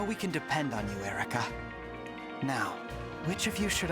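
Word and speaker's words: Eirika: My name is Erica. Erica! So the I is just superfluous.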